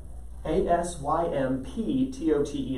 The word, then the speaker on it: asymptote: in your notes asymptote asymptotee that is a silent p why is it there just to make spelling errors happen a-s-y-n-n-t-o-t that's the only